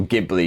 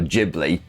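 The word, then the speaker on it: Ghibli: kind of like how studio gibli is actually apparently pronounced Studio jibli as I was once made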